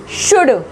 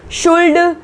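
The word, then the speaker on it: should: Next देखो कुड, cooled नहीं बोलेंगे, कुल्ड नहीं बोलेंगे, हम बोलेंगे कुड, वुड और शुड, ठीक है, ना कि वुल्ड, शुल्ड, कुल्ड, ठीक है।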